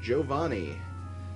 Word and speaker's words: Giovanni: It's an Italian name and that's how it's pronounced.